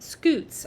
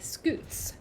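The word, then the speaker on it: scutes: all right thanks Lanza thanks Jessica oh it's pronounced scoots okay scoots good to know turtle shells are made up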